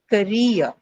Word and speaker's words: career: So, example, we'll take the example that we have in the slide career, right? Is career a disyllabic noun? Yes, right? So, you have ka and ria.